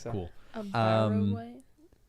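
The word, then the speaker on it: wight: was I didn't either is that how you say it a white or a wig that's how that's how they said the a white like the color like a white I'm pretty sure yeah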